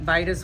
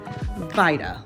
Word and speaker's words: Vida: Vida, long I. Think Ida, but with a V in front of it.